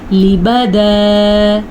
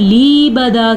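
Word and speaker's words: لِبَدًا: خاص خیال رکھنا ہے۔ لبدا، لام زیر لی، با زبر با، لیبا، تو ایسا کرنا تو ٹھیک ہے، لیکن اگر کوئی لیبدا کیا تو وہ غلط ہو گیا، تو اس کو پڑھنا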